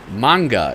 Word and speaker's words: manga: the know this is manga manga is how it's pronounced and this is uh